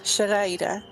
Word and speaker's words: xerraire: And if anybody's curious how to pronounce it, it goes Shadaida.